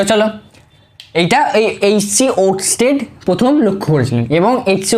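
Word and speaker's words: Ørsted: নামটা স্পেলিং ঠিক আছে, মানে স্পেলিং কি নামটা ঠিকঠাক উচ্চারণ করছি তো? হ্যাঁ, ওরস্টেড।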